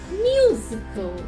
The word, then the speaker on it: musical: So here similarly it's musical, y sound.